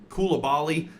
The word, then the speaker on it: Coulibaly: Like this upcoming season, you're probably going to have, you know, Trey Young, either Bilal uh Coulibaly, um I believe is how you say his name, or Kyshawn George.